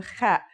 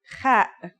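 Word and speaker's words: خ: Kha is a sound some people make when they laugh. It's also similar to the sound people make when they snore. According to phonetic charts, ha is pronounced in a deeper part of the throat than kha.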